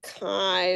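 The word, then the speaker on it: chi: proportions is called the kai squared and I emphasize that it's and I should write it properly you pronounce it Kai but it's really a Greek letter Kai have you seen Kai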